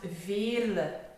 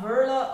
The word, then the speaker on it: Veerle: so it is called it is pronounced ville so not verla or it's hope that